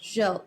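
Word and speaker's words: Gilles: um X is how we pronounce is it Jill thank Jill okay Jill is how we pronounce um uh Vanessa's last name but I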